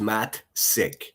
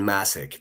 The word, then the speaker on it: Massik: And also my last name is uh pronounced Matt Sik just so just so everybody knows. My name is Massik. Massik senior. You need to get keep saying Massik. That's not it at all.